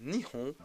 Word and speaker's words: Nihon: Il fut à partir donc, de l'époque de Nara, donc le 8e siècle, prononcé Nihon ou Nippon, donc que l'on utilise encore donc, de nos jours au Japon.